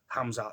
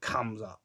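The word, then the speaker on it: Khamzat: I think it's a silent K. Hamzach, not Kamza.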